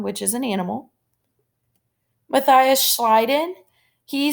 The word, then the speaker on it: Schleiden: Matthias Schleiden, he said that all plants are made up of cells, so I remember that because it rhymes. Schleiden in the garden.